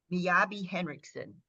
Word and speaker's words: Miyabi Henriksen: First of all, you have to correct me if I pronounce these wrong. Miyabi Henriksen.